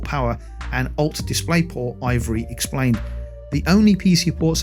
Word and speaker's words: IVRY: However, VR accessory maker Ivory, and that's spelled IVRY, noted on Twitter that an adapter of some sort will be needed to connect the PSVR 2 to PC.